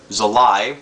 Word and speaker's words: Zulay: Well, anyway, the love interest Zulay, whereas she's pronounced in the movie Zulay because it rhymes with July, becomes the would-be love